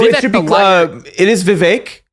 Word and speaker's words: Vivek: It is Vivek. He has made clear it rhymes with cake.